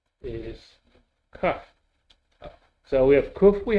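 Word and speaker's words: כף: Is cuff. So we have kuf, we have cuff. Kuf, cuff. Yeah. And the cuff we had before without the dot. The cuff and the cuff Sophie.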